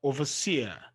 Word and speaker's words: overseer: one two three four overseer overseer is an exception the first syllable not from the end is stressed okay overseer rule nine